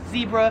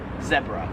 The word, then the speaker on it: zebra: i would pronounce this americans would pronounce this as zebra however in australia they pronounce it zebra 29 is mobile or